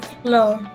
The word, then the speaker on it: flour: town to buy some flour flour flour yeah flour flour same pronunciation okay so this is the